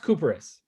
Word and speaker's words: Cuperus: It's pronounced Cuperus. Cuperus. Yeah. Even though it's a cup, it's not cup. It's okay. It's coup. Yeah. All right. It's a coup.